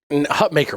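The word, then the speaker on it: Hutmacher: saying his name wrong it's Hut maker even though it's spelled and should be pronounced as mocker correctly I know uh it's maker that's how he likes a pronounce that's the way we're going to pronounce it I say it wrong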